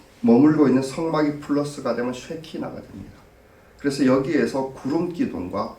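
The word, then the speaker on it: שכינה: 이게 바로 히브리어는 쉐키나. 그래서 좀 부드럽게 하려고 보니까 쉐카이나 이렇게 얘기를 하기도 하는데 발음은 쉐키나에 더 가깝습니다.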